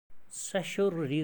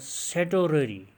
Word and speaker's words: certiorari: अगर हम इस तरह ले लेंगे कि सेटोररी ये ठीक नहीं है बल्कि सेशोररी रिट हम इसको पढ़ेंगे. फर्स्ट हाउ टू प्रोनाउंस इसको हम सीखेंगे, यानी सेशोररी.